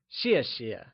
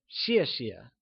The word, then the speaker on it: 谢谢: In pinyin, X is pronounced like shi. Keeping this in mind, let's look at the pronunciation of 谢谢. Thanks translates to 谢谢 and is pronounced using a falling tone.